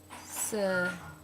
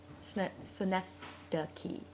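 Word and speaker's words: Synecdoche: He sent us out a pronunciation guide, and it looked like synedoche, synedoche, which is odd because that sounds a lot like Schenectady, New York.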